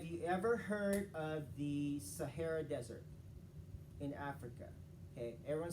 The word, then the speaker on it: Siharath: yeah okay okay so just like the desert that's my actually that was my nickname growing up i was desert because it sounded just like the desert okay so that's how you say my name properly sahara and i am from